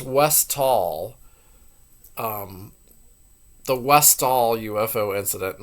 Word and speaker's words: Westall: of the hold on oh I did get the name wrong it's West West W tall not West Fall I'll go ahead and change that on my video it's West tall um the westall UFO